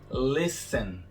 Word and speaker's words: listen: Essa palavrinha aí, listen, bem conhecida por muitos, não tem o T pronunciado. Então ficamos com listen.